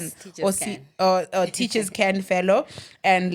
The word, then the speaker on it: Teachers Can: Is it CAN? Yes, Teachers Can.